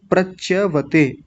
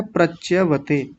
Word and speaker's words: प्रच्यवते: सही शब्द जो लिखा हुआ है वो मैं अब बोलता हूं। प्रच्यवते लिखा हुआ कल भी यही था लेकिन उच्चारण गलत किया था मैंने तो सही शब्द क्या है? प्रच्यवते।